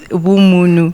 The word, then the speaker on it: Vhumunu: We avoided the VHU because now you might, my coach, simplicity, say Vu Farms, whereas it's Vumunu.